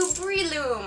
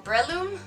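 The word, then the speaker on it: Breloom: My number 6 slot goes to Breeloom, or Breeloom? I always pronounced it Breeloom, but I think it's Breeloom.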